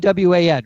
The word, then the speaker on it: Lewan: Taylor Lewin guy at Lewin. I don't know how to say his name. Luan? Luan. Lewan, right? Yeah, him.